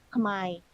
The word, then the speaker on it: Khmer: Nah, mereka punya kelas bahasa Kambodia disebutnya tulisannya Khmer, tapi di pronounce-nya Khmer.